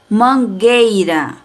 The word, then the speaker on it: mangueira: vogal iria ficar guerra a mangueira também não pronunciamos a vogal u mas se a gente